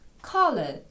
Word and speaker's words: color: питаємо про колір What color is the Apple А ось тут цікаво по-перше цікаво що слово Color колір бачите так і пишеться наче українською ко колір але читається зі звуком А це одне з тих